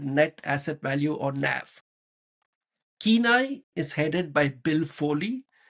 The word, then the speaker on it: Cannae: any attention is Kenai Holdings I used to pronounce it as K but I realized it was actually called Kenai so Kai Holdings which just like Barry dealers